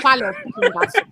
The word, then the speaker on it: palos: Yeah, but he said it wrong because he said pelos, which is hair. It's listos palos.